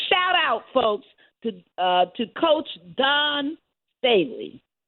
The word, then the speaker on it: Dawn Staley: out, folks, to Coach Dawn Staley. Is that the way you say her name, Daryl? Yeah, Dawn Staley, absolutely. Yeah, because she was approached